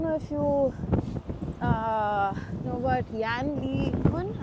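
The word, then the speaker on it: Yann LeCun: I don't know if you know about Yan Lee Kun. I think that's how his name is pronounced.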